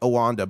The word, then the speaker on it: Oneida: I know it's not pronounced Oneida, it's like Owanda, but I love Oneida.